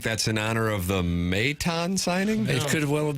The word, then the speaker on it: Maton: you think that's in honor of the Mayton signing? It could well have been a 12 and 25. Like if Joe got mad, we kept saying Maton. He's like, Mayton.